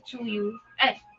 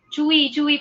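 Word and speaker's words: Tzuyu: Twice naman, si ano yung bet ko dun eh, si Chuyu. Chewy pala, Chewy, pag-pronounce, diba?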